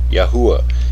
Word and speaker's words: Yahuwah: yahweh was never lost several early greek writers of the christian church testified that the name was pronounced yahuwah this is confirmed at